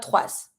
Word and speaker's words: trois: That last consonant will most of the time, be mute. So you're going to be saying trois, not trois. Careful, we never pronounce the S.